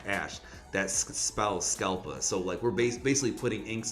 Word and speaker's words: Scalpa: which is average level, and PA, which is pronounced ash. That spells Scalpa.